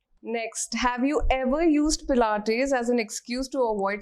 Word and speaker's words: Pilates: Has anyone ever mispronounced the word Pilates in front of you? Always. Always. Yes. Tell us some fun ones. Always, Plates? all the time. It's plates, it's pilates, so many variations to it.